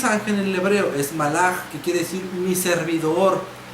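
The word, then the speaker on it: מלאך: La palabra ángel en el hebreo se pronuncia malach y quiere decir enviado o emisario.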